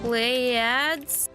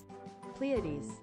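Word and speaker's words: Pleiades: How do you say that? Play ads. Play ads. Play ads. Um, plead. What? Are you serious? That's how you're supposed to say it? Pleades. No way.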